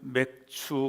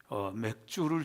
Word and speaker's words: 맥추: 네, 오늘은 맥추 감사절이죠. 발음을 잘해야 됩니다. 맥추입니다. 어떤 할머니가 맥주를 좋아하셨대요.